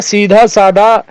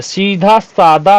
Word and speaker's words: सीधा सादा: सीधा साधा आदमी है अरे भैया सीधा साधा नहीं होता है सीधा सादा होता है सीधा साधा